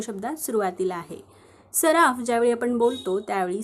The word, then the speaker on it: सराफ: इथे एफ लिहून घेतला फ हा शब्दात शेवटी आहे आणि शेवटी अ चा उच्चार होत नाही म्हणून आपण एफ च्या पुढे ए लिहिणार नाही मग सराफचं स्पेलिंग काय तयार झालं